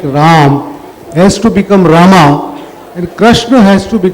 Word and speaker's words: Rama: translated from Sanskrit and in Sanskrit you pronounce the final a generally and even in tulsidas for metrical for metrical purposes we say Rama V huh um so um that's just a matter of pronunciation but I don't I don't do that in the book I say Ram not am bus take